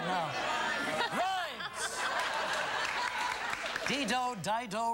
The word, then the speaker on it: Rimes: Got a sign for LeAnn Reams because she's coming out right now. Rhymes! Dido, Dido, Reams, Rhymes. Regis, it rhymes with rhymes.